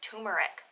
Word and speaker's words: turmeric: next one turmer so I grew up not pronouncing the first R just turmeric turmeric I called it tumeric so now that I